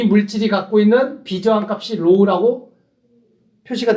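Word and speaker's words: ρ: 여기서 로우, 극자기호 로우라고 읽는 거고, 로우.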